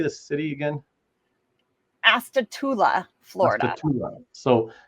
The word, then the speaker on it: Astatula: Astatula, Florida.